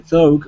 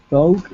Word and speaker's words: thought: The thought of children? The thought. Thought. Listen to me. Listen to me. Thought. Thought. There's no G. There's no G. You're adding a G that does not exist.